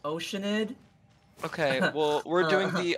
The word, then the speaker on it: Oceanid: right or we could do Oceanic let's do Oceanic no I know is that one actually it's pronounced oceanid okay well we're doing the electro hypostasis then